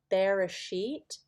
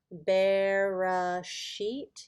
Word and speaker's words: Bereshit: This is the very first word in the Bible, Bereshit. Bereshit. You can kind of see the B-R-A, Bera, S, Y-T, Bereshit.